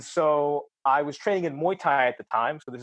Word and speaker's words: Muay Thai: uh real quick I've heard of muoy it's muoy is that how you pronounce it uh Muay Thai Muay Thai I've heard